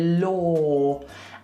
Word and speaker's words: law: is really annoying because the word law is spelt low. It's spelt with an AW, but we don't say that. We say law. And it almost sounds like door. Like law and door rhyme.